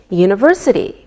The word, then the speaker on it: university: don't pronounce the H we say a university because University sounds like a why found same with a European